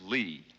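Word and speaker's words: -ly: This is Lee. It's spelled L Y and it's very useful.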